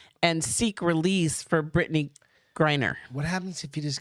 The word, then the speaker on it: Griner: Griner. Wiener?